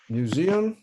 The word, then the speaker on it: museum: É como se eu contasse o número 1000.